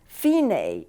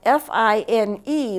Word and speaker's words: Fine: some music and this finae is important the finae is spelled f-i-n-e like fine but it's not pronounced that way in music it's fine this dc